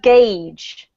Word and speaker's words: gauge: up native speakers okay but this is pronounced gauged don't ask me why I was felt like this and it's ridiculous I know English is sometimes very ridiculous but it's gauge okay what music how